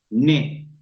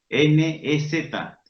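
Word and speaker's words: nez: Cuando está la E acompañada por una Z, por ejemplo, ne, nariz, N-E-Z, ne, esa E suena plenamente.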